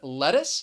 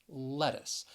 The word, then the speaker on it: lettuce: on that first syllable lettuce and i think it can be a little confusing the c has really an s sound in that final syllable lettuce and the other thing